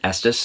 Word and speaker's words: Estes: in estes colorado and estes is the bestest that's how we always remember how to pronounce it and up in rocky